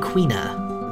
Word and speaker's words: Quina: couple and quina accused I've heard a couple of different pronunciations like I said earlier today I looked up some quna and quina the two of them I might bounce between them but Quin is the